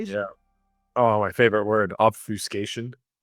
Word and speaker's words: obfuscation: Julie, you should know how Eddie pronounced obfiscation. Eddie say offiscation. Yeah. Oh, my favorite word. Obfuscation.